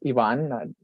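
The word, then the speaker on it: Iván: That's so that my name is Ivan, not Ivan or Ivan, or the accent puts the stress on that A.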